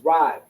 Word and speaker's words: Rai: Evil is Rai. You have the Ra and the I. They come together. Pronounced Rai.